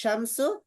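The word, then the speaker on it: الشمس: আর শামসু শিনের উচ্চারণ হয় না, লামের উচ্চারণ হয় না শিনের মধ্যে, এজন্য আর শামসিয়া।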